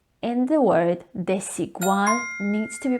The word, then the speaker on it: Desigual: between the two vowels some of the spanish language learners tend to pronounce it as z desigual which is incorrect remember the s in the word desigual needs to be pronounced